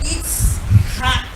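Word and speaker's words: Yitzhak: Nós temos aí os dois nomes, temos o nome de Isaac, que é Itzhak, né? É do verbo Itzhak, que é o verbo rir. Então, ao pronunciar, é Issahaha.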